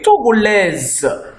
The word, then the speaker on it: Togolaise: Why for a woman or a lady, she will say, je suis Togolaise. The S here we pronounce as Z because it's found between two vowels.